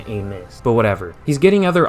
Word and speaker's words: Amos: to get adrian aim is it amos or amos because i hear people say it amos but most of the time you pronounce that last name a miss but whatever he's getting